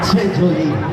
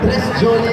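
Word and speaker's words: Très Jolie: Tre Jolie. Kahapon, Tres Jolie ang basa ko.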